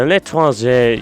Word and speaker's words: L'Étranger: The L'étranger, yeah, that's how you say it, actually suffers from a worse debuff than the Diamondback, coming in at minus 20% damage.